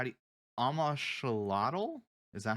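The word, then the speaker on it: Amoxliatl: Dude, how do you Amashalotl? Is that how Oh, that's I pronounced? have no idea. I just Because fought it. the X is like a sh sound, right?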